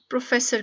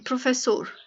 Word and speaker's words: professor: Teacher को Portuguese में प्रोफेसर कहते हैं, प्रोफेसोर। ठीक है? नॉट प्रोफेसर, स्पेलिंग प्रोफेसर वाले ही है लेकिन पुर्तगीज में से प्रोफेसोर बोलते हैं।